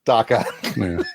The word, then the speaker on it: Daka: One man, 2 syllables. Daka.